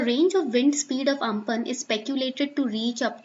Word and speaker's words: Amphan: It is pronounced as Amphan.